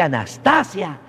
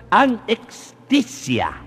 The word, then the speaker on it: anestesia: No se dice anastasia, se dice, fíjate bien la pronunciación, anestesia. O sea, con H intermedia.